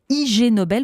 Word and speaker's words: Ig Nobel: Alors, à côté des prestigieux prix Nobel, il y a les IG Nobel. Vous prononcez Ig Nobel à l'anglaise, ignoble.